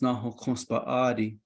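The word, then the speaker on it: Náhookǫs Bąʼáadii: And Cassiopeia, for us in Navajo, is pronounced Nahokonspaadi, which is the female revolving one.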